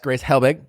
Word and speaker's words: Grace Helbig: my honey today really excited about today's guest grace Helbig I'm pretty sure that's how you pronounce it yeah I just say it really